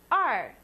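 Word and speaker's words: 二: long and drawn out two is R looks really similar to one but there are two horizontal lines the first one is slightly shorter and pronounce it r r for two now you have three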